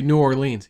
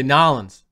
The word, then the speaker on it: New Orleans: You gotta say it right. You don't say New Orleans. You say Nolans.